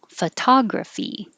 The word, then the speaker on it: photography: veggies as a nickname photography photography and i was comparing the first the o in photography changes to uh like f but the o in this one stays an o because it's stressed photographs photographs camera camera